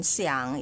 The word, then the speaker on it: 想: war is third tone Xiang is third tone and knee is also